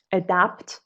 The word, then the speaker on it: adapt: بعد حواست باشه که pronunciation این لغت adapt و این adopt. adapt مثل adapter و اون adopt child مثلا.